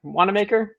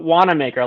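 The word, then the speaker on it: Wawaka: A native of Waker, Indiana. Did I pronounce that right? WMaker. That sounds perfect for you, Phil. WMaker, like you want to make things, and that's of course that's where you're from.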